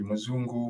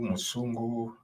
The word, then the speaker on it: Mzungu: There are variations in how the term Mzungu is pronounced. It can be Mzungu, Musungu, Nsungu, but it's the same concept.